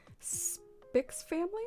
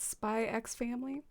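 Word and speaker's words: Spy × Family: and salad i was watching a new anime spicks family is that how you say it spy x family oh i haven't heard of that it sounds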